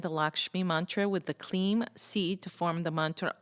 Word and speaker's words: Kleem: So let me tell you about the seed sound Kleem, K-L-I-M, pronounced K-L-E-E-M.